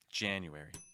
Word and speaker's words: January: Make sure you're also pronouncing an. Get the air out of your nose right before that N. An. Jan. January.